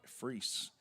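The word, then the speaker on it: Froese: Pretty pitch by Freeze. F R O E S. There's no O pronunciation in this name.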